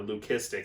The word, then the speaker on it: leucistic: together they will make a solid white leucistic or Loo-kiss-tick I guess is actually the technical way to pronounce it aloe cystic animal with